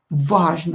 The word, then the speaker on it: важно: Он знает, что учиться каждый день важно. He knows that studying everyday, learning everyday is important. Важно. О not stressed pronounce as а.